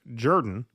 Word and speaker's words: Jordan: Ellen Jimerson says, in case your reminiscence of Jimmy Carter, his chief of staff, Hamilton Jordan, comes up, his last name is pronounced Jordan, as in the River Jordan.